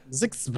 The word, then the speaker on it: ZHXB: How would you say that phonetically? You go ZHXB? I think we did that last week. Last time. Yeah. Zixba.